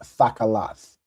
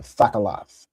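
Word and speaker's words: תכלת: Remember everything has that ah sound, right?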